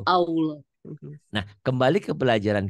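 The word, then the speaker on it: ما شاء الله: Padahal saya masa Allah, Allah harusnya masa Allah gitu. Masya Allah.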